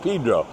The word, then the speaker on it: San Pedro: Throw that in there for you guys that want it pronounced Pedro.